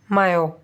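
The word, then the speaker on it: mu: Which is pronounced मायो।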